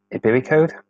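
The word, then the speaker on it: ibericode: Okay, so the first WordPress plugin we're going to look at is this Mailchimp plugin by Ibiricode. That's how you pronounce it.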